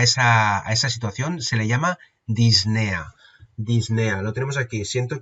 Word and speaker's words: disnea: se denomina disnea vale la palabra correcta escrito correctamente sería con esa intercalada pero realmente es apenas se pronuncia y podéis verlo escrito de esta manera o podéis verlo escrito en bibliografía como disnea sin la p vale muy bien una